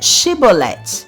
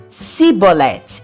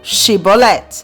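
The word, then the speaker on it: שיבולת: Então diga Shibolet. E por mais que tentasse, o pobre do efraimita só conseguia falar Sibolet, e não Shibolet, sendo então reconhecido como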